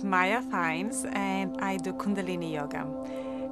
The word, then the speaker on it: Kundalini: fees and I do Kundalini Yoga it's very often I say it rhymes with Linguini just because lots of